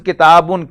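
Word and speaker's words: كتابٌ: If we write it by pronunciation, this is kitabun, K-I-T-A-B-U-N, K-I-T-A-B-A-N and K-I-T-A-B-I-N.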